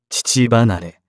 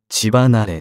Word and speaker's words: 乳離れ: 話であった乳離れと読むのは間違いで正しくはちばなれである折り紙の金色は